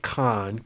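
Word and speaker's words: Kohn: Business philosopher Jim Rohn, R-O-H-N, and it's pronounced Ron like Khan, K-O-H-N.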